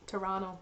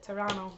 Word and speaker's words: Toronto: I didn't know Toronto rhymes with Verano, but I guess it does. Toronto. Toronto? That's how you say it. Toronto.